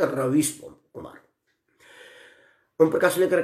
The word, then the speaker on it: रवीश: अनिकेत सिंह ने लिखा है कि आप रवीश कुमार के बारे में क्या बोलेंगे, ये कैसा पत्रकार है? रवीश कुमार, आप देखिए, वो रवीश नहीं है, रविश है।